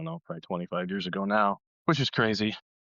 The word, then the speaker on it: Nao: like, I don't know, probably 25 years ago now, which is crazy.